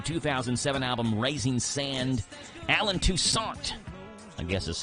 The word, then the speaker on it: Toussaint: You know who Alan Toussaint is? Toussaint. There we go. Patrick's got me. He's straightened me out.